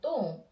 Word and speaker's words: 똥: So because 또, and for the finer consonant, we need O sound. O sound. Yes, right, we're gonna use this word again. 똥. So it becomes a 똥. 드 for double times, and O sound and sound after. Okay, so it becomes 똥.